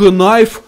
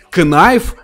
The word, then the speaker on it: knife: к knife нож от канаев правильно ну просто ребята рукалицо канаев неправильно буква к в начале не считается и не надо пожалуйста